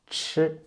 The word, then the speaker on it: chi: Chi. Chi and zhi. Actually, they're pronounced in the same way, but ch are aspirated. And you can find this sound in many English words like cherry, cheap, ch.